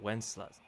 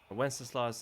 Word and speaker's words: Wenceslas: it says, but you think it writes out Wenceslas, like from the song. How you pronounce it, right?